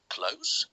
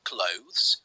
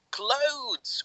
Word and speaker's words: clothes: is about pronunciation but if you would say close it'll be okay if you would say clothes that would be okay but if you would say I need to change my clothes with a d this